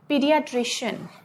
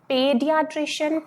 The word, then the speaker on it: pediatrician: चलिए नेक्स्ट में आते हैं पीडियाट्रिशियन. ध्यान रखना, पेडियाट्रिशियन नहीं है ये, पी इस तरह से हम इसको प्रोनाउंस करते हैं, पीडियाट्रिशियन.